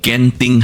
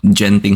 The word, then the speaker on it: Genting: see now to Malaysia ganting Highlands did I finally pronounce it correctly ganting Highlands not Genting Highlands okay this happened on December 30th 2024 around 6:30 p.m.